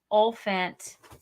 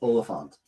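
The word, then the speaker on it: Olyphant: just got my timothy olphant cobb what i said it wrong i always thought it was oliphant isn't it i know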